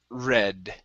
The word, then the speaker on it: read: very good and this word here here is pronounced red red okay because we are we have it